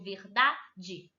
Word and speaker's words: verdade: Qual é o acento tônico? Da, certo? Eu digo verdade. Essa é a sílaba mais forte.